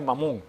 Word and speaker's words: Mamón: Okay, le voy a pronunciar con el acento en la primera sílaba, porque no en la tercera, no, segunda sílaba, porque si en el idioma original sale Mamón, o sea, ese es el nombre que tiene.